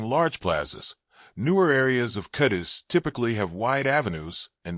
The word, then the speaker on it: Cádiz: In Spanish, the accent is always, as according to the spelling, on the first syllable, but while the usual pronunciation in Spain is, the local dialect says Cais, Kai, or even Ka, I instead.